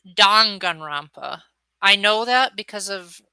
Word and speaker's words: Danganronpa: no worries and yes it is pronounced don gunrampa i know that because